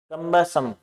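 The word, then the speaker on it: cumbersome: Next word is कमसम, कम्बसम, कम्बसम देखिए यहां ये जो यू है इसकी आवाज आ रही है ए की, ये पहले से प्रोनाउंसिएशन की चर्चा कर लेते हैं, जैसे अपने होता है बी यू टी बट, सी यू टी कट, ठीक है। अब इसमें देखो यू की ध्वनि ए की आ रही है, यू की ध्वनि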